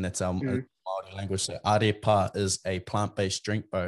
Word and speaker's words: Ārepa: I actually want to see, can you pronounce that, bro? That's a Maori word. You said Arepa? Arepa. Arepa.